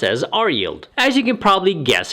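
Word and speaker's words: RYLD: 2000 ETF ticker symbol r yld d and pronounce as R yield as you can probably guess it follows the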